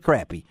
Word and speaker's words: crappie: he said crap yeah he said crappie he keeps calling it crappie you know yeah I love it whitey even out cuz I got friends and we've had arguments about how to pronounce that word you know and I and I'm folks you you've just won fans all over the mid-south whitey more you have because you've got it nailed down hey guys thank you